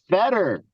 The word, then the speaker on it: Fedor: And I go, it's Feder. It rhymes with better and cheddar.